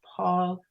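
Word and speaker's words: Paule: a u l e with an e on the end but the E is silent and she named herself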